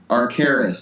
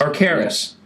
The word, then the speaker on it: Arcturus: Now, you also were on tour with, and I'm not sure exactly how to pronounce the name. Is it Arcturus? Arcturus. Arcturus. Arcaris, yeah.